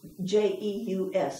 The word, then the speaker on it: Jeus: And there was another, Jeus, J-E-U-S. I had never heard that name before. But I remember Dad mm-hmm.